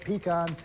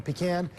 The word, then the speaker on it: pecan: this is a tornado warning in effect if you're in Fort Gaines you've got less than a minute pecan or pecan depending on where you're from how do you pronounce